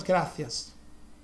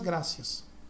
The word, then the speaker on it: gracias: É que lá na Espanha o C é pronunciado diferente. Eu sei porque eu sou descendente de espanhóis, né? O C eles pronunciam como muchas gracias.